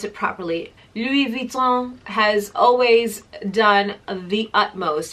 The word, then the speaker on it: Louis Vuitton: issues with Louis Vuitton, but however, let me pronounce it properly. Louis Vuitton has always done the utmost, and I have been to the boutique on Fifth Avenue.